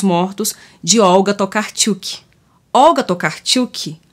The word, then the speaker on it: Tokarczuk: esse sobrenome aqui tá que a gente se fosse lena no português um abrasileirado ficaria tocar kisuke mas é tocar tilke agora que tá começando